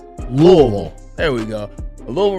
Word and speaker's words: Louisville: say Louisville like it's you got to say it like the people that are from there it's pronounced Lille there we go a